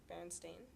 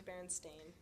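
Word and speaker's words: Berenstain: it's Baron Stein versus Baron stain Baron Stein versus Baron stain yeah I remember I remember Baron Stein I remember Baron Ste I think I remember Baron Stein because that's how like I always say it like oh the baron Steen Bears said the baron stain bears that and it makes more sense to me it sounds better than Baron Stein yeah like that doesn't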